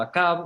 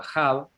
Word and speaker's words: Ahab: Bien, y aparece el famoso Acab o Ahab, según la pronunciación, que es el marido de Jezabel, de la pérfida.